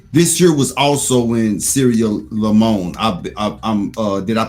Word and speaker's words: Sierra Leone: This year was also in Sierra Leone. Did I pronounce that right? Sierra Leone.